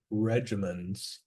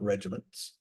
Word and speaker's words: regimens: when I say treatment I mean treatment regimens not regiments regimens and so I hope I've been pronouncing that clearly so now that we've